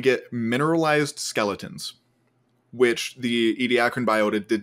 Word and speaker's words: Ediacaran: talking about, whose name I have already forgotten, Ediacaran? Ediacaran. How do you say that? Ediacaran, yeah, the Ediacaran.